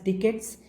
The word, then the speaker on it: ducats: सो ये बेशक स्पैलिंग्स ये याद रखियो, DUCATS है, बट इट इज़ टू be pronounced as डिकेट्स।